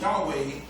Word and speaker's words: Yahweh: letters YH wh in the Hebrew language commonly pronounced Yahweh meant I am that I am to paraphrase